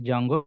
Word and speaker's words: Django: We are calling technically Django. D silent letter S.